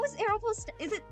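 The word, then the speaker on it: Aéropostale: How is Aeropostale? Is it... oh, do people say Aeropostal? But it has the E at the end!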